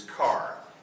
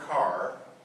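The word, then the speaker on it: χαρά: us the Greek word for joy is car it's spelled a little differently than our automobiles it's ch h r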